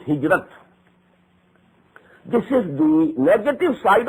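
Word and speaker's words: هجرت: Hijra, which we in Urdu pronounce hijrat.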